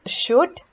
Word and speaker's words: should: silent here next is should observe that we don't say should so l is silent similarly it's good and